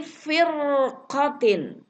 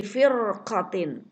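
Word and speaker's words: فِرْقَةٍ: Contoh berikut, min kulli firqatin. Min kulli firqatin. Ro sukun, sebelumnya ada huruf berharokat kasroh nih asli. Dan sesudahnya ada huruf isti'la. Huruf qaf.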